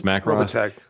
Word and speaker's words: Macross: Am I pronouncing that correctly? Macros, I think it's Macros. It's Macros.